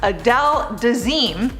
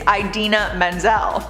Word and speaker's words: Idina Menzel: said something completely different he announced her as Adele design her name is Idina Menzel he did apologize to